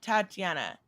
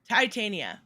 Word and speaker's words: Titania: always say it wrong ty tania not tatiana titania i'm sorry i um they